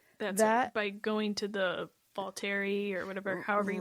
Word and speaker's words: Volturi: That's by going to the Volturi or whatever, however you pronounce it. Volturi, yeah.